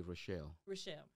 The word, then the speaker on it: Richelle: And so, I was like, so the right pronunciation would be Richelle. Richelle, not Richelle.